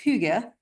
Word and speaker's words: hygge: But I think it's pronounced hygge, is the Danish principle of living simply.